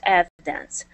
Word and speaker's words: evidence: Yeah, so the accent is at the very beginning of the word.